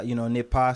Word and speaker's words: Nipa: So Nipa is French. Okay. Yeah, Nipa.